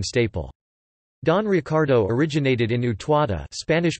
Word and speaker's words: Utuado: Don Ricardo originated in Utuado, Spanish pronunciation, Utuao, a municipality of Puerto Rico located in the central mountainous region of the island known as La Cordillera Central.